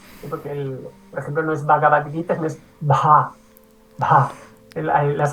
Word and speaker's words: Bhagavad Gita: en la materia, pero sí que intento hacer las aspiradas, porque por ejemplo no es Bhagavad Gita, no es Bha, Bha.